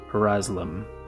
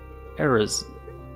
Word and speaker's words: Arazlam: I'm Arazlam. Eraz. I've never been sure how to pronounce his name. Arazlam. No, there's no vowel in between.